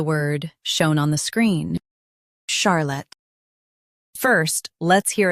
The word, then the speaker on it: Charlotte: In US, stress char. In UK, stress sha. Charlotte, Charlotte.